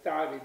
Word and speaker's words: tare: Whereas this particular letter, it's what's called the unaspirated T. It's called ta. So if you say it properly, ta, there'll be